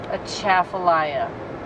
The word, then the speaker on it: Atchafalaya: pelea as a sly Atchafalaya a hard accent on that second syllable captain I would it